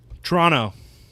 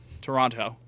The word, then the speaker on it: Toronto: That second T is a little more subtle. Right. Toronto. Toronto. No, you say TR Toronto.